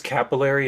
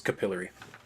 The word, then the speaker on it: capillary: capillary comes off yeah in America it's capillary in England it's capillary oh really I'm yes